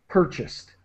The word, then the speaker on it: purchased: So try not to pronounce the A. It's purchased, more like an I sound. purchased.